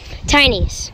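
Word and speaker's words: Tynys: Tiny's. Tiny's? Yeah. How you spell it?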